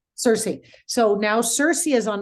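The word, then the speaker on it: Circe: now I know that is it cir am I how do I am I pronouncing that the groups called it Cersei Cersei so now Cersei is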